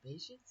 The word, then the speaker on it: patience: I am patient and since it's actually patience and patience make sure you pronounce the CE all right and if